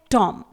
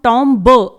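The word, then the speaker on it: tomb: Example में देखेंगे कुछ वर्ड्स, जैसे पहला वर्ड है टॉम। यहां पर TOM के बाद लास्ट में बी लगा हुआ है, इसे हम टॉम ब नहीं पढ़ेंगे, इसे हम पढ़ेंगे टॉम।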